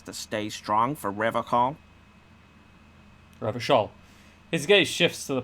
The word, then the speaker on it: Revachol: Revachol. His gaze shifts to the pile of soggy logs at his feet. He pronounces Revocol with a hard K, unlike other people.